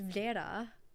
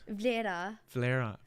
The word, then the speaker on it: Vlera: I do, yeah, because it's Vlera. What? Vlera. Oh, fuck me, dude. I know it's the R that messes people up.